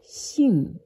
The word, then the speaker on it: 性: And this one, you pronounce it as xing, X-I-N-G, okay, the first tone.